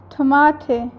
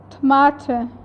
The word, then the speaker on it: Tomate: Eighth is tomate. Here A pronounces the sound of A and E pronounces the sound of A, that's why it is called tomate.